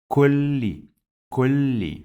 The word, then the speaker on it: كل: We pronounce this lam 2 times. kulli. So that's why it has shadda, and the second sound is with kasra.